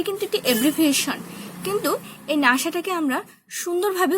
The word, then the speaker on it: NASA: ইউএসএ এবং নাসা দুটোই abbreviation, কিন্তু এই যে নাসাটা আমরা NASA না বলে নাসা বলে, যার একটি উচ্চারণের ক্ষেত্রে যার একটি নিজস্বতা আছে, তাই এটি হচ্ছে অ্যাক্রোনিমস।